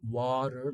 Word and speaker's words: water: Um but in British English the RP accent they pronounce it like water w that beginning is also different if you focus on the vowel. It's not just the difference in t. Um, in American it's wa wa water like daughter, you know,